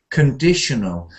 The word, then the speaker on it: conditional: pattern if you say conditional if you say con then before you know